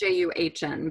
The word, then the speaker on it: Jun: It's pronounced Juhn, but it's Jun.